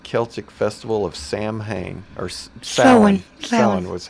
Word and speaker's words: Samhain: to the ancient Celtic festival of Samhain or Stanley Cohen was how it's pronounced ax but a lot of people felt Samhain yeah how do you want the Celts who